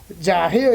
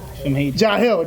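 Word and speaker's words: Jaheil: I think it's Jahil is J A H E I L what Jahil Jahil is what I'm hearing from my producers back here.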